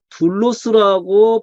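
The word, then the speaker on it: δοῦλος: 사전으로 갑니다 가니까 아 이건 둘로스라고 발음을 하는 거구나 둘로스 그러니까 사전에서 사전으로 들어가면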